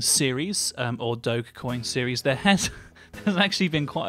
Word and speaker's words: Dogecoin: Today we're doing a continuation of our Dogecoin series, or Dogecoin series.